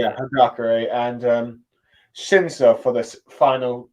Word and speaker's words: Hagakure: Higake. It's Higake. Did I say that right? Or Hagakure, I think is how you say yeah, Hagakure and Shinso for this final act or saga, if you will.